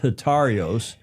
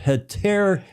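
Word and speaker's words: Hetairos: It's not Hetarios. It's Hetaeros, the boat that won the St.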